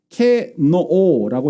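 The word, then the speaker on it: κενόω: 여기서 자기를 비운다라는 비우다라는 이 동사가 케노오라고 읽는데 무효로 하다, 죽이다, 헛되게 하다 이런 뜻이에요.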